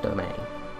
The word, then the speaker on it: demesne: And for anyone wondering, it's spelled Demesne, it's pronounced domain.